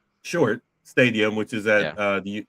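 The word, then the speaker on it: Shuart: Leo has just said it's short short stadium which is at the university there.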